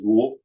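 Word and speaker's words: 武: Let's see, we'll do one more here. All right, this is a good one. This one is very important for martial artists or anybody in the military. Pronounced Wu or Mo in Cantonese, and it means war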